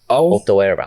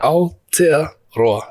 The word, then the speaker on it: Aotearoa: And from your learnings as an Indigenous man of New Zealand, or Aotearoa. Am I pronouncing that right? Aotearoa. Aotearoa. So Aotearoa. Yeah, beautiful.